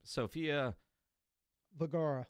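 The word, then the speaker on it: Vergara: Sophia Vagara.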